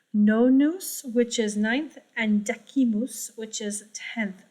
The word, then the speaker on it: decimus: which is ninth, and decimus, which is 10th. You can also say decimus if you want there for ecclesiastical Latin.